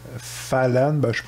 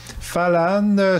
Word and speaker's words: Fällan: de 1975 qui s'appelle fallen c'est un film suédois à la base donc mon accent suédois il est à zéro c'est pas comment ça se prononce mais falan ça veut dire le